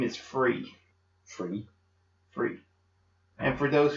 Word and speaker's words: Fri: but my name is free free free and for those who's writing it down for remembering it's actually spelled Fri but it's pronounced free all righty as he